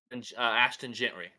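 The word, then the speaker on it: Ashton Jeanty: more it was more publicity than um whatever Ashton Gentry that's how you say it yeah well because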